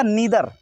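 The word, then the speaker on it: neither: तो पहला सीख लीजिए, फिर देखिए, ये है लिखा नीदर, इसको नीदर भी पढ़ते हैं, नाइदर भी पढ़ते हैं। नीदर या नाइदर दोनों में से कोई भी प्रोनाउंस कर सकते हैं आप।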